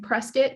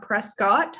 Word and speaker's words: Prescott: program our prescient campus you'll notice i'm saying prescott not prescott i don't know why it's pronounced prescott but it is smaller virtue campuses